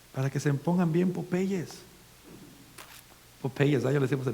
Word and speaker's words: Popeye: leche para el crecimiento, para que se pongan bien Popeyes.